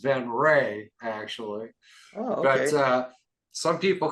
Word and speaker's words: Venrez: can the badge is supposed to should be pronounced ven R actually but uh some people call us venes some people call us ven R and it doesn't really matter as long know